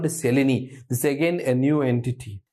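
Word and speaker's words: Mseleni: n i it's called m is silent pronounced it as Selen osteoarthritis Selen osteoarthritis hip is more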